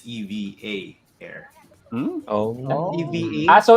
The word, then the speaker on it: EVA Air: was corrected it was it's not eva air it's eva air oh no so it's